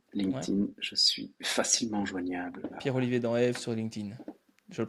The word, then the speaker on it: Pierre-Olivier Danhaive: Pierre-Olivier dans Eve sur LinkedIn. Je le prononce bien?